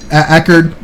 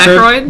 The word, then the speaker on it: Aykroyd: Did you know they had to get permission from David Ackard? Dan Aykroyd?